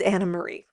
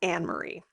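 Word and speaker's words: Annemarie: off the show by the way it is Anna Marie not anarie so I just wanted to so please don't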